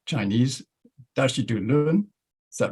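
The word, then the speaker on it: 大智度論: good at pronouncing Chinese, Dashi Du Lun. Is that right? Yes, the Dashi Du Lun. Yes. Dashi Du Lun, yeah.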